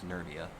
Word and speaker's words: Nervia: I keep saying her name wrong. It's Nervia.